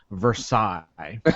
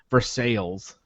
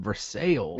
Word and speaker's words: Versailles: literally will pronounce it for sales the people who live there call it versales yeah that's like it's